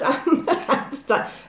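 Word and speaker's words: apatite: It is pronounced appetite. Veronica, my crystal speech coach, has told me that is absolutely right.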